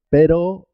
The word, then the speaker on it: pero: Perro se escribe con dos R's y suena doble. Perro, cuando se escribe con una sola R, suena simple. Pero, perro, pero, perro, pero.